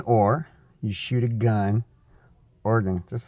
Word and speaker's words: Oregon: Well, everybody probably knows that it's pronounced Organ, right? Just organ. Like you have organs in your body. There's this thing that's kind of like an electric piano. It's called an organ, just like that.